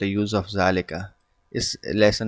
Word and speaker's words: ذلك: एंड थ इ mask जालिका is pronounced S जालिका देखिए प्रोनंसिएशन भी बहुत जरूरी है जालिका को अलिफ के साथ जा पढ़ा जाता है यानी डबल इसको ए कह सकते हैं जा जालिका ठीक है लेकिन इसको लिखा जाता